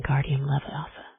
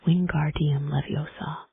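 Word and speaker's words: Wingardium Leviosa: You're saying it wrong, says Hermione in an impatient voice. It's Wing Guardium Leviosa. You emphasize the gar.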